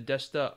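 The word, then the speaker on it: でした: Notice the E sound in these complete suffixes, the shta and the deshta, is not pronounced. So it's shta and deshta, generally, 9 times out of 10.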